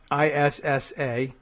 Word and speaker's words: Issa: different uh you can find her on Twitter spelled like it sounds TI i n a Tina Isa whatever Issa all one word that's the way it works